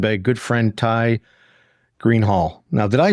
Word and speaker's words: Greenhalgh: to be joined by a good friend Ty Green Hall now did I pronounce that correctly a good friend of mine